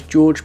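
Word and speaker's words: Đorđe: of Googling, and although it looks to me like the name is D-O-R-D-E, I think it's actually pronounced as George, but sorry if that's wrong.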